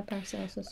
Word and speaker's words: Paracelsus: Is that, how do you pronounce his name? Paracelsus? Yeah, Paracelsus, yeah.